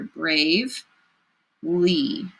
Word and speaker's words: bravely: I hear two chunks. I hear brave, lee. We circle suffixes at the end. So that first syllable, brave, oh, speller gave us a clue. That long A, consonant, bossy mama E.